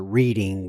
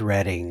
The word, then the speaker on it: Reading: the way you know I always wanted to pronounce her reading but I know it's reading and I'm sure people